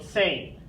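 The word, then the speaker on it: zehn: next ten same same we have the Z just like here making our TS sound the letter e if you remember from your alphabet lesson makes the a sound and then the HN gives us kind of a just an end sound so sane sane is our number ten number eleven this hopefully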